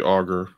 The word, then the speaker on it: augur: The end of the Cold War seemed to augur. I think that's how you say it. So okay. Actually, it's supposed to be augur.